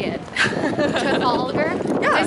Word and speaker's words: Trafalgar: Trafalgar.